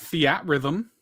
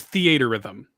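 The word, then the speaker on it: Theatrhythm: I've been playing that Fiat rhythm, that as Ryan calls it. I'm glad that is that okay. How do you say it? It's theater rhythm.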